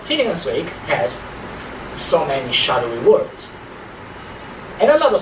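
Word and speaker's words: shaddo: spelled this way, S-H-A-D-D-O, shadow. Okay? In that passage, it rhymes with lado.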